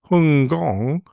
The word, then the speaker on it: Hong Kong: When we started flights to the fragrant harbor, as its name was when literally translated from the local pronunciation of Hong Kong as Hungong, the flight times were well over 15 hours, needing two additional pilots to take over in the cruise.